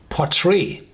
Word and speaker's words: Port Ruighe: have the telescope part whatever how do you pronounce this PUK no it's called potre and uh this is an old GIC GIC